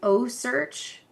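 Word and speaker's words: OCEARCH: Um, one that was really interesting to me was it was O Search, but it's it's spelled like O C E A R C H because they have a shark tracker.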